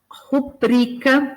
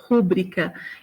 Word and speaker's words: rubrica: Rubrica, e essa é uma palavra que muita gente pronuncia como rúbrica, e a palavra é rubrica, né?